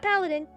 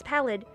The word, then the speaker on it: Pallid: It's not Paladin. I don't know why I read it as Paladin. It's Pallid.